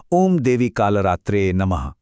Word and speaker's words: ओम देवी कालरात्रे नमः: इसका उच्चारण है ओम देवी कालरात्रे नमः, और इसका सीधा सा मतलब है मैं मां